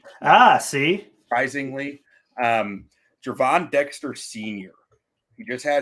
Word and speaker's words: Gervon: Dexter it's it's uh pronounced like a j ah see surprisingly um Javon Dexter senior he just